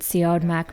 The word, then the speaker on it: Siodmak: of noir films that Siodmak made one after another in the 40s.